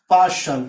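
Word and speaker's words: partial: जैसे आई ए, देखिए यहाँ इनिशियल यानी कि टी के बाद आई ए आया, इसलिए इसका उच्चारण हुआ श, हस्ताक्षर। उसके बाद है पार्शल यानी कि पक्षपाती, यानी कि टी के बाद आई ए आया, इसका मतलब हुआ श।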